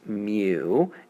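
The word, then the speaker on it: μ: We kind of distill this into a single measurement that we call mu, pronounced mu, and written as kind of a little cursive looking U.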